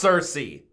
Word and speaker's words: Circe: me to react to I just did the pronunciation and now I already forgot it Cersei Cersei perfect it's Cersei okay for those of you that aren't aware